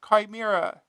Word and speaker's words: Chimera: It's pronounced Chimera.